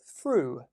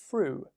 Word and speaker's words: through: I'm going to give a few bonus ones at the end, but the next one I want to look at today is through, through.